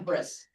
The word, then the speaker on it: bris: You're gonna have a bris. Brit literally means covenant, and it's pronounced brit in the Ashkenazi Germanic pronunciation of the word is bris.